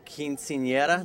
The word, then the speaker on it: Quinceañera: All right, we're here with Jesse Garcia from the film Quinceañera.